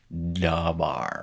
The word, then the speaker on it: dabar: dagesh, because this dagesh, the lene dagesh, was following no sound, indicating that you should harden your pronunciation of D to D, dabar, right?